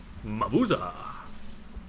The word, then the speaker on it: Mabuza: In case you didn't know, that is actually how you have to pronounce his name. Mabuza!